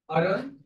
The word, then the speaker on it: Arun: What's your first name? Arun. What is it? It's spelled A-R-U-N.